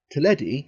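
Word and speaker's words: Teledu: Derby couldn't speak Welsh tedi and that is how it's pronounced because in Welsh you sound like eyes and why sound like 's just to confuse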